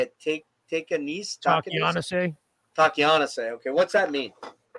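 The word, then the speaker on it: Takeahnase: Takianase.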